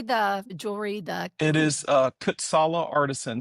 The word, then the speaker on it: Kutsala: It is Kutsala Artisan. So Kutsala is Khutsala, and it means hardworking in Siswati.